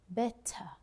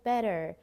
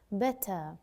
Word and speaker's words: better: So when the word ends with R, we do not pronounce it better. We use the schwa sound. But in American, they would say better, just at the end. Now British English, we pronounce it as an better.